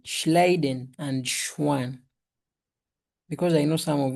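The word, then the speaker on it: Schwann: How do you go about pronouncing those two German names? Schliden. Schliden and Schwan. Schliden and Schwan.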